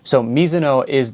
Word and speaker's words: Mizuno: So Mizuno is the Japanese pronunciation. I am half Japanese. I grew up in Japan. That's how I grew up saying it. Now, if you pronounce it Mizuno, you're not technically incorrect, as that is the Americanized name of the brand.